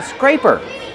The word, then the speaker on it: scraper: Use a long A like day and say.